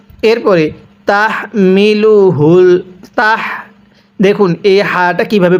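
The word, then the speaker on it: تَحْمِلُهُ: হবে ওলু হারুনা এরপরে তাহমিলুহুল তাহ দেখুন এই হাটা কিভাবে পড়ছি তাহমিলুহুল এই হাটা উচ্চারণের সময় মুখ দিয়ে আওয়াজ করতে হবে আর এই হাটি উচ্চারণের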